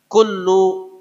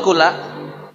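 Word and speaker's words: كلُّ: Kalau saya ucapkan kullu bid'atin dolalah, mestinya kullu apa kulla? Kullu. Namanya mubtada. Awal kata harus dhammah. Tapi kalau saya tambah inna, wa inna, nggak boleh lagi kullu.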